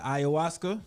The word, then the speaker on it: ayahuasca: You went on your ayahuasca.